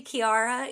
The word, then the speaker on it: Ciara: A friendly Irish man on YouTube told me Kira.